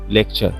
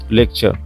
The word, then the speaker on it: lecture: তাহলে বন্ধুরা এখানে LECTURE, এখানে আছে কি টি ইউ, তার মানে কি এখানে টি এর উচ্চারণটা কি হবে চ হয়ে যাবে। তো আমরা এটাকে লিখতে পারি কি লেকচার, লেকচার, লেকচার।